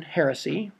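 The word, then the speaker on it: Hersey: was had read this book hiroshima by john heresy that's how you say his name and she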